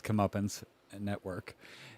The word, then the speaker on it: Comeuppance: It's Comeuppance Network.